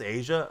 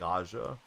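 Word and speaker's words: A'ja: It's pronounced Asia. See, that shows you what I know. I always thought it was like Aja. because that's how I read it.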